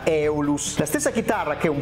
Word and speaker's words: Aeolus: è una har benton aeolus o meglio come mi ha fatto notare qualcuno di voi nei commenti si pronuncia eolus la stessa chitarra che